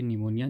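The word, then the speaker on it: pneumonia: और यहाँ पे निमोनिया, जो निमोनिया की होती है ये भी आपने याद रखना है कि निमोनिया की जो स्पेलिंग है वो पी से स्टार्ट होती है, इसमें पी साइलेंट होता है।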